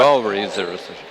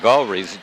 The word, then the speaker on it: Gawrys: Galrees, she's a junior at Yeah. Mount Vernon, 5'7". How did you pronounce her last name? I went Galreys, Yeah.